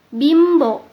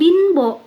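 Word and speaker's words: 貧乏: Berikutnya, untuk yang pelafalannya terdengar seperti ada di kata ini, bimbo, sampo. Nah, jadi bukan binbo ataupun sanpo, tapi lebih ke M.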